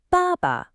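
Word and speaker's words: 爸爸: For father, we have baba. Hear that? It's a falling forth tone followed by a light neutral tone. Try it.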